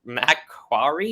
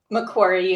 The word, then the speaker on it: Macquarie: emotional health at mccart mcquarrie university i that definitely did not pronounce that right macquarie university macquarie and the national president